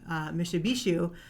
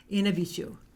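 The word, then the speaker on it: Mishipeshu: It's actually, the words are not pronounced how they're spelled. So it's actually Inabishu.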